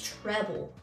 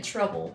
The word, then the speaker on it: treble: saying trouble is because it's written as trouble it's treble tre BOE a lot of people keep thinking we're saying in trouble which is trouble one thing I want